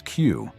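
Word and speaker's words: く: In Japan, the number four is pronounced shy, which sounds like death, and nine is Q, evoking pain or suffering.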